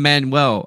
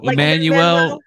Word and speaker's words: Manuel: said it right okay I just chop it down I'm Manuel I say I'm Manuel I am Manuel okay all right all right Emmanuel but like you know